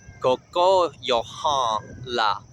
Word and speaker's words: Kokóyahaŋla: Both words have an emphasis on the second syllable. Kokóyahaŋla, Bloká. And the first word, Kokóyahaŋla, is a nasal N. Just force air through your nose.